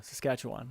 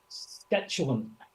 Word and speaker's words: Saskatchewan: Wasteland of SAS Saskatchewan there we go Saskatchewan I almost said it wrong skatan yeah good times anyway